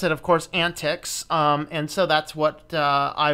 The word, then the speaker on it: antiX: gonna have a look at an TX or excuse me is pronounced antics according to the gentleman